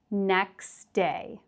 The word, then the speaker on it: next day: So it's not next day, but it becomes next day. Next day. You can think of it as there's no T at all.